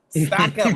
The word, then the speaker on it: South Carolina: You got to say it the right way cuz people don't say it right. It's South Carolina. South Carolina. My mother is from Lamar, South Carolina, so I know.